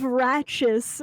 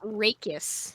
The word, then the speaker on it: rachis: the plural of ratchis, which is like the stem part of a feather. We're learning today, chat. And remove the veins from the... Apparently, Google says it's pronounced rachis.